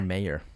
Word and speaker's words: Mayer: How would you spell it? OSCAR MEYER. Yeah. Oh, it's MAYER. It's MAYER. Damn it. Mayor.